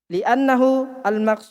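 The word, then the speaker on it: لأنه: Jangan Jangan suka tambah huruf, jangan suka tambah. Baca saja yang ada. Li'annahu al-maqsudu al-muradu bil fiqhi. Tidak ada wawunya. Wal muradu bil fiqhi huna masailul fiqhi.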